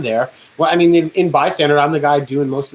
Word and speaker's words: Bystander: you mean this oh you're putting out the song by standard and i'm like it's bystander and they're like bystanders and is that a thing do you guys pronounce it by standard with the d at the end do you record it